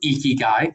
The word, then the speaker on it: Ikigai: It's actually pronounced Ikigai, okay?